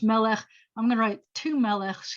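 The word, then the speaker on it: מלך: break that into syllables it's me and the first syllable is meh even though it's a short vowel it acts it's the accented syllable so it acts like a long vowel so we're good so it's melech i'm gonna write two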